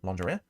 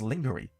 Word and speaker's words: lingerie: It says, "At 1 minute 35, pronounces a very common English word, lingerie, completely wrong and phonetically as lingery instead of lingerie."